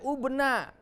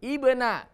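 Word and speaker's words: ابن: Tidak boleh tidak boleh ubna, ya, tapi ibna. Ya. Imru'un, ya. Imro'atun. Jadi khusus kata ibnu, ya, tidak boleh ubnu, walaupun huruf ketiganya harokat dhammah. Maka di sini tidak boleh dhammah, tapi dengan kasroh.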